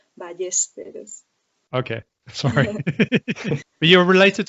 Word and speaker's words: Ballesteros: In Italian it's Ballesteros, but in Spanish it's Ballesteros.